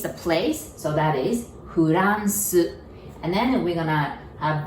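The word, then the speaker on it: フランス: And then R, we don't have R sound, so we pronounce it like L.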